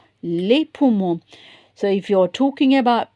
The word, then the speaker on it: les poumons: Look here, les poumons. Whenever they say, because we're not going to pronounce the S in French.